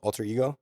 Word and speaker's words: AltrXego: with Ben Schiff from Alter X ego alter ego. Yeah sometimes we joke around and we say the X is silent just just a master thief but you know uh yes alter ego.